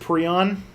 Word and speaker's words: prion: So it's pronounced prion.